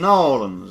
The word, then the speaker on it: New Orleans: You had to say it like them people down there in Nolans.